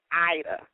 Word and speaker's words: Aida: d but it's pronounced Ida it's pronounced Ida just like the play uh the Oprah Ida